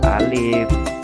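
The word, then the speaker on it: ألف: cermati cara pengucapannya ya Alif dibaca Alif jangan alis di wajah lain ya salah ya kemudian membaca dengan tartil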